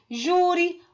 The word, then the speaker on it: júri: Então, júri, o acento é no ju, que é a penúltima sílaba.